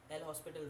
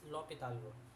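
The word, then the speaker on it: L'Hôpital: are what called the l hospital rule but it actually pronounces local rule okay it's lopital where H is silent so in this local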